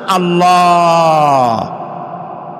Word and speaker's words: আল্লাহ: আল্লাহর নাম আল্লাহ, বলেন তো? আল্লাহ নয়, কিন্তু আল্লাহ হচ্ছে অশুদ্ধ, শুদ্ধ হচ্ছে আল্লাহ। বলার সময় মুখটা গোল হয়ে যাবে।